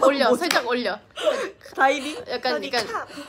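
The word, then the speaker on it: สวัสดีค่ะ: 약간 사우디카. 살짝 올려. 에이, 끝에 끝에. 사우디카. 사우디카.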